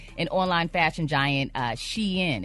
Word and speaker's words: Shein: And online fashion giant Shein. It's not Sheen, it's Shein.